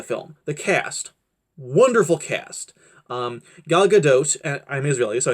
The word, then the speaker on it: Gal Gadot: like about the film the cast wonderful cast gal gadot's at I'm is really so another name is pronounced gal gadot was great she played the